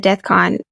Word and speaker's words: DEFCON: from there uh but you did mention the deathcon is it did I pronounce that correctly okay awesome exactly what is